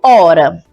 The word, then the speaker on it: hora: A letra H no início da palavra não é pronunciada. Exemplo, hora.